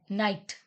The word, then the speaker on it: night: Night. Night word में हमारा GH silent है.